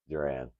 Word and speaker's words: Duran: I was calling Randy, JRN. Oh, damn. We've been call, yes. I've been calling him Randy for a week now. What's up, Duran? That's how you pronounce it?